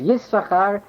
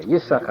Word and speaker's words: Yissachar: You skip the second sin. When you pronounced it as this was just suggested, this is because there's a dagesh in the first sin. So this is Yissachar, and if you would pronounce the second sin, it would be, you have to pronounce 3 sins, not 2 sins.